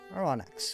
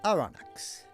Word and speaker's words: Aronnax: Aronnax, okay. According to the weird computer voice, that is how you pronounce that. Aronnax.